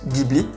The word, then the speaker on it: Ghibli: Et je parle ici du concurrent Ghibli, qu'à la française on prononce Ghibli, qui possède au contraire une posture d'aidant, de soignant.